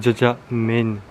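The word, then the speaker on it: 짜장면: C'est jajangmyeon. Parce qu'en fait c'est coréen, chinois, japonais. Japonais c'est jajangmyeon.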